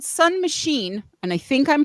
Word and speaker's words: Mahshene: The band is called Sun Machine, and I think I'm pronouncing that correctly because it's spelled MAHSHENE. So I would say machine, right?